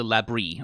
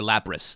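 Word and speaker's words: labrys: So this battle axe here is a labri, or a labris, depending on how you want to pronounce it.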